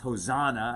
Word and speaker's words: Hoshana: jewish people and hebrew gave this word sometimes pronounced hosanna i guess but hoshanah means save us please right hoshanah save us